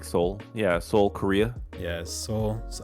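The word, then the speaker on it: Seoul: be playing in Soul how you say it soul s it's like Soul yeah soul Korea yeah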